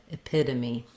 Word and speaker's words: epitome: This one will be longer, p, epitome. You can hear how I'm saying the American English pronunciation of this letter T is a flap, so it sounds more like a D.